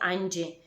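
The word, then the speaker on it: ஐந்து: nanke, you pronounce nale, and 5 you pronounce, I think it's pronounced in Tamil, aind, and you pronounce it anji.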